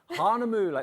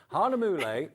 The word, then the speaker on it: Hahnemühle: is it not hang on I've got to pronounce this correctly I'm so excited to see this m what yeah Hana mle that's what I said Hana moule at 6 o'cl tonight with Mr Liam aarion